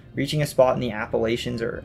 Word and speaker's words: Appalachians: a spot in the appalachians or appalachians the pronunciation really depends on where you live where it makes a